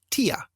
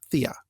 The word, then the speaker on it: Thea: always pronounced her name tia not thea so he says i've always read thecla and thea with a hard t instead of a soft th that's kind of cool